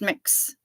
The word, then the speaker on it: Mx: anybody to feel like they're uncomfortable or unwelcome pronounced mix okay I can do that I can do